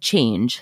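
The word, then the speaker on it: Chanj: starting a clothing line called change c-h-a-n-j called it phonetically and it's just yoga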